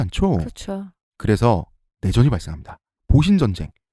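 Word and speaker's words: 戊辰戦争: 그렇죠 그래서 내전이 발생합니다 보신 전쟁 우리 발음으로 무진 전쟁이라고 하는 신정 부분하고 막 부근의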